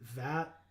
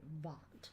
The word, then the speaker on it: Vat: Is it VAT? I don't think it's VAT. But I don't think it's anything else either. I think it's pronounced Vought. Vought. A Vought of Rebirth? Yeah. Definitely. Definitely. That's what it is.